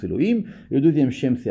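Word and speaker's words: אלהים: Il y a le premier Shem Yud Kei Vav Kei qui ponctue Elohim, donc on le prononce Elohim.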